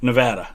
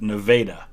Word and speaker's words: Nevada: do you pronounce nevada nevada that's how i pronounce it unless you're in iowa because there's a nevada iowa iowa spelled the exact same way but pronounced nevada um i haven't read